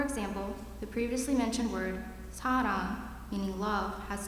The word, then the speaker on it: 사랑: Combined together, the first syllable block is pronounced sa. As for the second syllable block, it is a combination of a consonant R, vowel A, and another consonant NG to finish off the wrong sound.